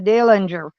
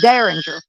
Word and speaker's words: derringer: gun a little dillinger calls it a dillinger dana dillinger it's a derringer he can't even say it right oh sam went listen